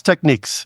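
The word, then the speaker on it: Technics: brand that has been around forever is it pronounced technices techniques it's techniques techniques that's that's what I was thinking so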